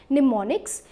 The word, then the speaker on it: mnemonics: the word mnemonics so the m is silent and this is pronounced as mnemonics so mnemonics means nothing